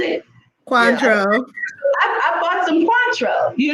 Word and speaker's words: Cointreau: I bought some, Jillian, how do you pronounce it? Cointreau.